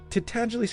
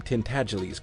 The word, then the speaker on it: Tintagiles: to pronounce the name Tintagiles correctly. It rhymes with sneeze, and the accent is on the second syllable, and the G is soft.